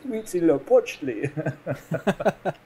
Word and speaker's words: Huitzilopochtli: there's a little button you can click for pronunciation. And there's a very Central American sounding guy that says, Huitzilopochtli.